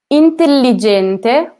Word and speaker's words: intelligente: Intelligente, also there, I had double the L.